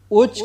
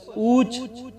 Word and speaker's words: اچ: کے سپرد کر دیا۔ اچ کا تلفظ اوچ، اوچ، اوچا کئی طرح سے کیا جاتا ہے۔ دائرہ معارف اسلامیہ نے تمام تلفظ درج کرنے کے بعد اچ کو ترجیح دی ہے۔ یہ لفظ سنسکرت کے